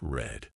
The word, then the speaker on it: read: is pronounced like read read in the present is pronounced like read but in the past it's red but in the past it's